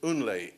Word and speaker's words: NLÉ: studio, his office in Unle, N-L-E. If you can pronounce Kunle, you can pronounce Unle, right?